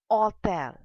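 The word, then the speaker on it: hôtel: as hotel but in French it is hotel because H is silent in French language.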